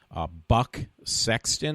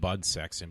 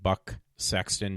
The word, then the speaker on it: Buck Sexton: I said his name wrong before, one of the people that cover it, and it was Buck Sexton, I think it is. I said Bud Sexton, but I think it's Buck. B-U-C-K.